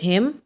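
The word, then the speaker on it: hymn: नाउ the next word is हिम. It would be written over here. M के बाद N है, सो वी आर not going to pronounce N over here.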